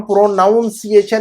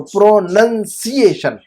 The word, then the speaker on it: pronunciation: लेकिन जब आवाज या तलफ्फुज को हम प्रोनाउंसिएशन या प्रोनाउंसिएशन नहीं कहेंगे, हम क्या कहेंगे इसको, प्रोनंसिएशन। क्या कहेंगे हम, प्रोनंसिएशन कहेंगे हम।